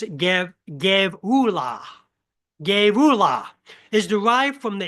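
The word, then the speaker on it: גְּבוּלָה: It's pronounced Gevula.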